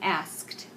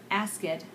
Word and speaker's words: asked: then the last sentence he asked asked asked not ask it but asked okay all